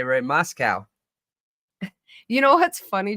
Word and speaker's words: Moscow: Ray's going to get me, and I said it wrong trying to correct myself. That's super funny. And I was like, oh, yeah, like cow. But then I was like, oh, wait, the whole point was to not say it like cow. Moscow.